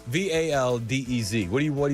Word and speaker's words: Valdez: It's the lightning round with Chris Apparently it's pronounced Valdez. Valdez.